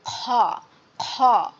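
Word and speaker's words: خ: সে 2টা হরফ হচ্ছে গইন খ। খ খ, আমাদের যেমন কাশি লাগে, যেমন খ খক খক করি, এভাবে আমাদের এটা উচ্চারণ করতে হবে গইন খ, গইন খ।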